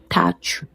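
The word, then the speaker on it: tàcc: Ça se prononce comme si tu étires tach. Le C se prononce ch. Avec le U qui se prononce ou tach.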